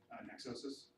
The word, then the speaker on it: Nexosis: So Nexosis. It's spelled Nexo, Nexosis. It's a portmanteau of Nexus and Neosis, like as in diagnosis. So the Greek word for knowledge and the Latin word for intersection.